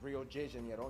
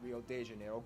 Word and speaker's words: Rio de Janeiro: that's right it's pronounced rio de janeiro not rio de janeiro get it right we're not in mexico this is portuguese not spanish this was done in